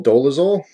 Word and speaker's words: Dolezal: this video is going to be about Rachel Dolezal, I believe is how you pronounce her name, and she is now an